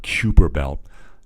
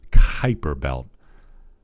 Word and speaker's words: Kuiper: properly with me here it's not kubera belt hyper belt hyper belt so stay with me three two one hyper belt anyway what the Kuiper